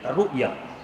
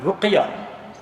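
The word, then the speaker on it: رؤية: Yang pertama disebut dengan ru'yah, bukan ruqyah, ru'yah. Dengan kalau ejaan Arabnya ra hamzah ayata, ru'yah.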